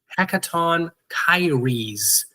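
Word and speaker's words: Hecatoncheires: These ones that you're looking at here on screen are called the Hecaton Kyres.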